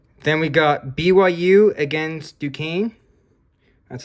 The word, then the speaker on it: Duquesne: Then we got BYU against Duquesne. That's how you pronounce them.